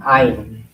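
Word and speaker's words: עין: 아인 아인 아 아인 아인 아인 아인이 교과서에 나오니까 일단 쓰는 거하고 발음하는 거 읽히는게 오늘 목표입니다.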